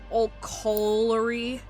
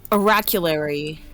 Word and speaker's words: oraculary: Oraculary. Is there an R in it? Yes. Okay, yeah, it's oraculary. Oraculary. Kind of like you're saying arachnid, but then you change your mind.